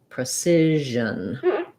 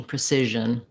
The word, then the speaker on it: precision: anything a little schwa we have another one of our syllabic n sounds there so precision um it's not easy precision again i would maybe start with your si syllable cision precision to help you get the rhythm and then just focus in on that and j combo you can also use